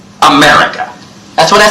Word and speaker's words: America: What can we reduce? Okay, good. The I. So, mera. Anything else? Right. Everything except for the men. America. It's not that they mumble, it's just that there aren't any sounds there. Aren't any vowels.